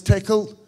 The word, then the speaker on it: Tcl: ended up playing with tcl um which i suspect i'm technically supposed to pronounce tickle but i'm going to keep calling it tcl because i just my